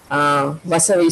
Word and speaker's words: Vasavi: Okay, I think it's wonderful that he's at Vasavi School. Is that the correct pronunciation? Yes, ma'am. Okay.